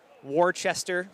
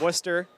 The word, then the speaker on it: Worcester: Oh, like Warchester. No, it's Worcester.